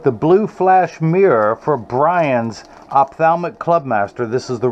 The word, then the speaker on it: Birane: Good morning and good Friday to everyone out there, and especially to Brian. I'm told it's pronounced that way. It's not spelled that way, but it's told it's pronounced that way in Dakar, Senegal.